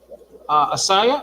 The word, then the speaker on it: Assiah: Asaya, it's spelled Assiah, but I know who you're talking about.